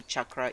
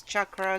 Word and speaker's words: chakra: the chakras and the correct way to say chakra is chakra so please just start seeing it correctly don't